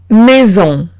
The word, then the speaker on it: maison: Ahora, si tengo una S entre dos vocales, en ese caso se pronuncia como la Z en francés.